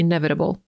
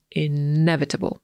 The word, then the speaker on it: inevitable: Łatwiejszym do zapamiętania słowem będzie nieuniknione, czyli inevitable. Tak powiedziałby Amerykanin, a po brytyjsku będzie to inevitable. Ważne, żeby zaakcentować drugą sylabę, czyli ne, inevitable.